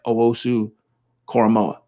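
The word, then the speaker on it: Owusu-Koramoah: we don't land a micah parsons or jeremiah owosu coramoa did i say it right i think so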